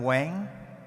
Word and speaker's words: Quang: So without spoiling it, I'm going to go ahead and let Quang take it away. Thank you, Lorena. So, hi, I'm Quang. In Vietnamese, people pronounce the Q like a W.